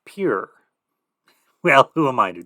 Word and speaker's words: Pierre: Dakota the coyote state in South Dakota Pierre is pronounced pure well who am I to judge okay pure yeah you know the